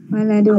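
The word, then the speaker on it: ولد: Nah, kalau ada alifnya walidun, kalau tidak ada alifnya waladun.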